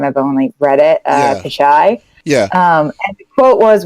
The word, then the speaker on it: Pichai: Pichai.